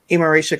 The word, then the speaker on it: Imarisha: Am I pronouncing Imarisha correctly?